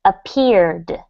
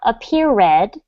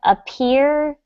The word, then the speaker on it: appeared: The word is appeared, not appeared, but appeared. You want to try that again, Appeared. Pablo? Appeared. Very good. So it's like the word appear, and then the final D sound, appeared.